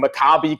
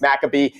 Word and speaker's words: Maccabi: Dwight, of course, as appropriate, like making sure that he's pronouncing Maccabi correctly, like when most of the world thinks it's Maccabee.